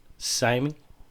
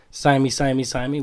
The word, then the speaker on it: TSIME: This is episode 3 of TSIME. TSIME with the silent T.